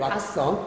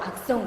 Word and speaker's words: 악성: 악성 고객, 왁성. 악성 고객. 발음 좀 중요합니다.